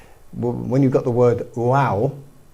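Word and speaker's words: vav: There's this there's this um character called you pronounce it wow.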